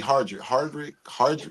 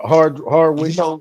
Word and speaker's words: Hardwick: to bounce back because you think about Amari Hardrick, is that am I Yeah. saying it right? yeah. I know you're talking about Hardwick You know why they got him out the